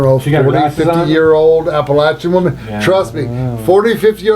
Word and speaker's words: Appalachia: mind you you're in Appalachia and by the way that's how you pronounce it anybody who says it any different is wrong it's it's Apple at I'm throwing an Apple at you that's how it's pronounced